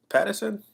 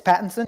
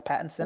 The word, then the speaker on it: Pattinson: Batman Robin Addison's uh how you pronounce his last name is it Patterson yes I say Pat it's Pattinson yeah it's Pattinson I see everybody spelling